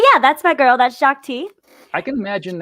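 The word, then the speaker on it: Shaak Ti: It's a Star Wars character, and it's Shakti. So if you ever look up that character, I don't even know how to spell that character. It's SHAAK and then space TI. Shakti.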